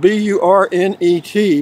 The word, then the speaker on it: Burnet: All from Burnet, Texas. I'll tell you why. It's spelled B-U-R-N-E-T, but if you go to the Chamber of Commerce, they'll tell you it's pronounced Burnet.